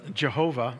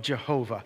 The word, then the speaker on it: Jehovah: And the W was in the Middle Ages was pronounced as a V, like German. So Jehovah, and a J is the Latin version of Y.